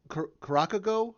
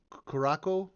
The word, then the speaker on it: Curaçao: It's the second C has like a little S like symbol coming down below.